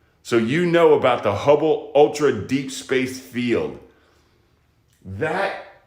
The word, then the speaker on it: Hubble: what here's Ho Gaya hu b b l e hubble rhymes with bubble okay and so the